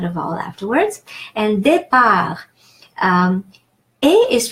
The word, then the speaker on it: départ: And départ, A is pronounced A, like in the word egg, because